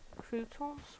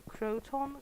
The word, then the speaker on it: Croton: I'm not sure how to say it because it's spelled C R T C R O T T O N. So, Croton. Croton. Something that sounds a lot like something you put on a salad.